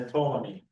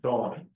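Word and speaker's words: Ptolemy: Um, a dominion greater than once established his kingdom, he grew stronger than the tolamy than Tommy. They I think you the P is silent, right?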